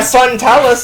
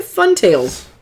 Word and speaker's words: Fun Tales: What'd you say? Fun Tales. How'd you mispronounce that? I said Talus. I thought the L was before the I.